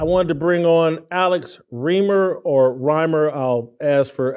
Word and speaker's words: Reimer: first I appreciate Jason reamer is how you pronounce it reamer so Alex I'll just